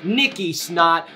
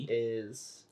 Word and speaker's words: Nick is: Well, you got it good, but you pronounced my name wrong. Oh, is it like Nicky? Nick is... Nickis.